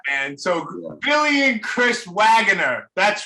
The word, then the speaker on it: Waggoner: so Billy and Chris wager that's right how you say it right yes all right because I know lot people say waganer but it's wager it's wager yeah that's how Danny pronounces it yeah oh